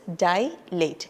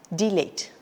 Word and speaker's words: dilate: we have is dilate it is dilate it's not delate okay the next term